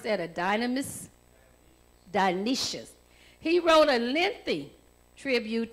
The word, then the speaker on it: Dionysius: was in AD 260, and Elder, do you pronounce that a Dionysius? Dionysius.